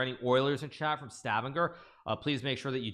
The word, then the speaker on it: Stavanger: to be this direct flight from Houston to Stavanger, and now the flight doesn't exist anymore. So maybe there aren't the Oilers that there used to be, because it's the oil city. Like if you're in Stavanger, or Stavanger, I should say, as that's correct